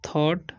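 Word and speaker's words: thought: Near him एंड थॉट, इसे पढ़ते हैं हम लोग थॉट, ठीक है। जी एच जो है साइलेंट है, ठीक है।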